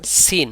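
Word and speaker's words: سين: এভাবে পড়া যাবে না এর একটা টান আছে প্রপারলি উচ্চারণ করতে হলে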